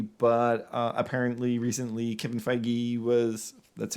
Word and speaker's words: Feige: bit uh handwavy but uh apparently recently Kev feige was that's how you say his name uh